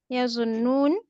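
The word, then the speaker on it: يظنّ: Yazunnun, they think. No, no, please stop. Tazun, Please stop, sister. Look, noon has a shad, so you have to pronounce two noon. Yazunnu. Yazunnuna. See, there are two noon.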